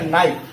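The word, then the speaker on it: knife: हैं तो यहां पे के क्या है तुम्हारा साइलेंट है और इसको हम नहीं पढ़ेंगे क्या हो जाएगा नाइ जल्दी से पढ़ हो चाहिए निफे लेकिन हम इसको निफे नहीं पढ़ेंगे क्या पढ़ेंगे एक सास में क्या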